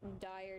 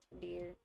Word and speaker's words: Dire: Like it's Dire, not Deer. It It is actually deer.